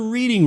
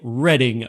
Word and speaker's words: Reading: board game Monopoly and yes it's not the reading railroad it's pronounced the reading railroad even though it's spelled like reading it's